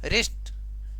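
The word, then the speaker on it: wrist: उसके बाद देखो रिस्ट, डब्ल्यू के बाद आर आने की वजह से डब्ल्यू अपना उच्चारण खो चुका है। ठीक है, उसके बाद रिस्ट का अर्थ होता है कलाई।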